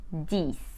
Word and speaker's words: dix: and we say we the number 10 is spelled D I X but we pronounce it this now let's go from 10 to 20.